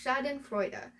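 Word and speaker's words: Schadenfreude: It is pronounced shaden frea and the word is world is full of it these days.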